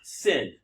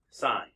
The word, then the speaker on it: sin: the sign value of t now I say this every year it's not sin okay it's shortened to s i n but you still pronounce it sign just like this is